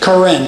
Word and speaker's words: Karen: Many of the indigenous people in that area of Western Myanmar are known as the Karen. It's like the female name Karen, but it's pronounced Karen, K-A-R-E-N.